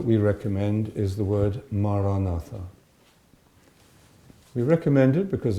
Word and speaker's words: Maranatha: If you choose this word, Maranatha, say it as 4 syllables, Ma, Ra, Na, Tha.